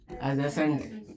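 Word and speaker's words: adjacent: एडजेसेंट।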